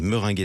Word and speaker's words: Meringaie: cofondatrice de Minguet on dit comme ça on prononce comme ça bonjour à vous bienvenue meringae bonjour euh la Mering meringué allez meringué c'est encore mieux et ça donne faim comme